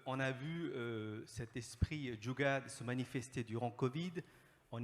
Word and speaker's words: Jugaad: Alors, j'ai envie de vous demander, Navi, est-ce que l'hydrogène est compatible avec le Jugaad, qui est un mot indien dont vous allez me donner la signification.